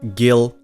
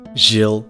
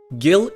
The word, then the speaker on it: Gil: gatherers also fun fact it's pronounced Gil not Jill you don't say GIF to a gif Gill is what you pay